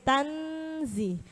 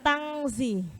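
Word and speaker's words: تنزيل: Sudah siap-siap mengucapkan huruf zain. Tanzi ya. Banyak kan kita bacanya biasanya tangzilan. Enggak ada dengung itu tang. Huruf enggak ada yang NG.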